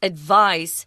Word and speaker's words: advice: you advise someone that's a verb form of this word advice notice the difference in pronunciation advice if someone gives you